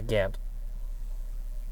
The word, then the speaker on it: Gant: Yeah, Gant.